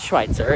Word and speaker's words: Schweitzer: guess where we are it rhymes with schnitzel it actually does it it doesn't matter schnitzel we just got to Schweitzer and it's amazing it's